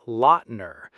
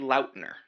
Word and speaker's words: Lautner: Let's break it down into four quick syllables. Tay, lur, loud, ner.